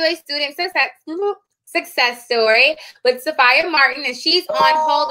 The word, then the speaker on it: Safiya: Okay, and listen, so it's actually pronounced Safiya. So I'm it's like, sorry. it's okay, you're fine. So it's like Sophia, but with the A, so Safiya.